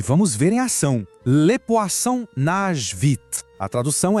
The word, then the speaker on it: poisson: Em francês, le poisson. O interessante aqui são 2 sons. O oi, que soa como o A, e o som, que tem um som de S bem forte, como na palavra assar.